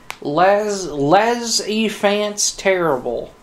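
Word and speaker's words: les enfants terribles: Les enfant terrible.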